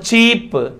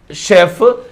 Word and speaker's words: chef: So first one is the right answer, not cheap. Okay, not cheap and not chef. That is the chef.